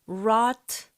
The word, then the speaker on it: wrought: 자, 여기서 발음 wrought 이 정도의 모음으로 읽으시면 되고요.